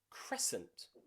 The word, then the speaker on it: crescent: example in words like crescent that moon the famous crescent moon that c in there we don't pronounce okay we just pronounce the s s sent crescent okay also muscle muscle